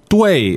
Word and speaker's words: 对: Okay, 对 is spelled D-U-I, fourth tone.